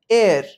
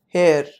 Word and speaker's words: heir: mispronounce this legal term h-e-i-r is to be pronounced as simply as air not hair number seven this word